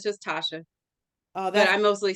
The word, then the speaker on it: Tashia: to S it throws people off it's just Tasha oh but I mostly say Dr for